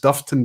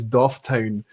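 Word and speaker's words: Dufftown: in a quiz question i famously mispronounced duffton distillery as doff town and i sparked a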